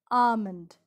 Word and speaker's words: almond: word almond or almond the correct way is almond the l is silent almond i like almonds